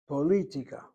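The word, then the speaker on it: פוליטיקה: Well, look where the accent is on that word. Politica. Not politica. Poli on the second syllable. Politica.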